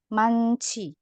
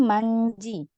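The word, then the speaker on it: 많지: Kemudian ini juga ada man, ada hietnya ya. Kalau di sini kan harusnya hietnya mati. Hanya kan gak dibaca. Tapi karena dia ketemu sama jiet, dibacanya jadi manci. Bukan manji.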